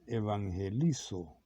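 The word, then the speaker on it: εὐαγγελίζω: sino también en forma de verbo, que se pronuncia evangelizo y equivale a lo siguiente, significa proclamar o anunciar el Evangelio.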